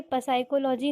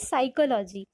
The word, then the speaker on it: psychology: जी नहीं, ये पसाइकोलॉजी नहीं होता, दिस इज साइकोलॉजी।